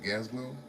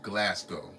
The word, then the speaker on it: Glasgow: be a castle in G glow I think that's how you pronounce it is it gaslow no Glasgow Scotland right so we're going